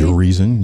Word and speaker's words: Urizen: Most notably, V speaks his poetry and refers to the big bad guy as Urizen. I think I pronounced that correctly. Urizen, you got it, you got it.